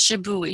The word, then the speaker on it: shibui: Is that how you pronounce that? Yes, shibui.